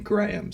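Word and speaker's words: Graeme: born with the name Graham spelled GRA eme it's kind of pronounced like graham cracker kinda sorta you know graham cracker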